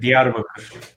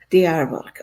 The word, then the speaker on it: Diyarbakır: Can you pronounce this for me, Sidar? Because I don't want to ruin it. Diyarbakır. Diyarbakır.